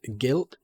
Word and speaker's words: Gylt: But yeah, it's yeah, just like sort of the dark like art direction of this Guilt game. Gylt, it's spelled.